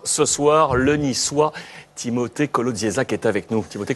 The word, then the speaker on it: Kolodziejczak: notre grand témoin ce soir le nissois Timothé colodzac qui est avec nous Timothé comment allez-vous très